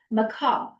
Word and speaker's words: macabre: I also have the privilege of announcing tonight's word of the day, which is, and I learned the correct pronunciation from Carol. Thank you, Carol. It's macabre.